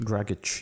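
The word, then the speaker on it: Dragić: name g Goran dragic dragic yeah I was told to correct I kept calling him dragic so uh Goran dragic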